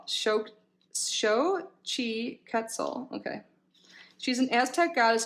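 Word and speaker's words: Xochiquetzal: again and this is she her name is pronounced shochi quetzal shocked show Chi quetzal okay she's an Aztec goddess of fertility and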